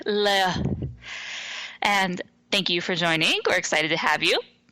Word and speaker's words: Leah: We also want to give a shout out to our newest patron, Leah Sloan, or Leia Sloan. Not sure. It can be pronounced both ways. I'll go with the British way, Leia.